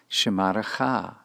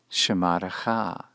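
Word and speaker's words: שְׁמָרְךָ: This is pronounced shemarecha, shemarecha.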